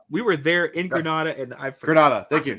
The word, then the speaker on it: Granada: And I've Granada. Thank you. Sorry, not Grenade. Granada. Yeah. So, Granada. Sorry.